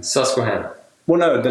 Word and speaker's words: Susquehanna: Susquehanna?